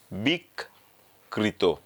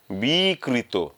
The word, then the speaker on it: বিকৃত: বিক কৃত।